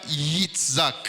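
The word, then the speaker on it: יצחק: prononce ça Yitzhak.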